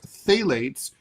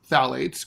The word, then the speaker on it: phthalates: These chemicals, which are known as phthalates, they're spelled phthalates. They're pronounced.